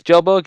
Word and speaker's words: Kjellberg: pretty cool dude PewDiePie playing Minecraft I'm Felix Kjellberg it's Kjellberg yeah thing this thing say you say I